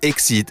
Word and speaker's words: XCeed: كيف نزيدوها الاكس ولات تنطق اكسيد، الكلمة الانجليزية اللي تعني تتجاوز، تفوت، تفوق.